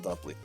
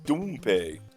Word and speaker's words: Dumpley: It's failed presidential candidate Ronald Dumpley. Well, you can tell when this was made. And boy, did they fail. It's pronounced Doompay.